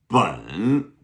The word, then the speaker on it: 本: Bun. Good. B-E-N, third tone.